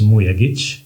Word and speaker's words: Mujagic: But first things first um the only correct way to pronounce my last name is Muya.